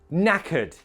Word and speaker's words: knackered: Two syllables. Knackered. Knackered. Shattered. Shattered.